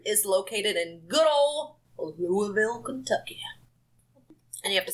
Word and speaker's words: Louisville: So, Waverly Hills Sanatorium is located in good old Louisville, Kentucky.